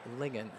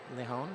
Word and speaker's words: Lian: I was rightfully informed that number 25, the last name is Lian, not Lehon.